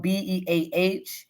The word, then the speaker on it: Beah: is a component of the movement and beer is spelled be a and it's in honor of this ancestor who